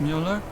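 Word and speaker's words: Müller: up version of vert Mueller it's German from my father he said to always insist on the umls otherwise people butcher the pronunciation so often butchered it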